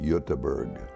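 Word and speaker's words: Göteborg: on the west side where Gothenburg is or they call it yutaberg they landed in the Port of Baltimore about 1875.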